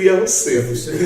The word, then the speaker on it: Yahusef: Eu pronuncio Yahusef.